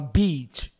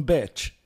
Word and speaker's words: beat: vulgar Beat praia geralmente em vez de falar Beat as pessoas falam Bet pratique até conseguir fazer o som i correto em inglês muitas pessoas passam vergonha